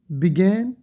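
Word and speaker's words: begun: शुरू करना, बिगिन, बिगेन, बिगन। मैंने बताया था यू की साउंड जो है जबर आती है, ठीक है, मोस्टली 90%, बिगन।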